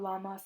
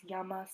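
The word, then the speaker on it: llamas: respond with me amo it's not lamas or lamo it's yamas and yamo because the two l's next to each other make the y sound so if someone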